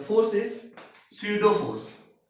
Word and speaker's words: pseudo: स्यूडो force PSEUDO, स्यूडो, है ना। ये P जो है वो साइलेंट है, स्यूडो फोर्स। स्यूडो का मतलब होता है फॉल्स। फॉल्स मतलब जो एक्चुअल में नहीं होता है उसी को हम बोलते हैं स्यूडो, ठीक है। P साइलेंट है यहाँ पे, स्यूडो फोर्स।